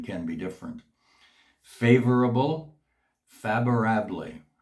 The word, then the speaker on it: favorable: Favorable, favorable. The V in Spanish is pronounced as a B, and once again it's ble because the E at the end is not silent, it's pronounced as an A.